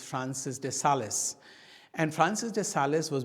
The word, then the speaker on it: Francis de Sales: Yes, some people in English call them Francis de Sales, but actually because it is a French name, it is the real pronunciation is Francis de Sales.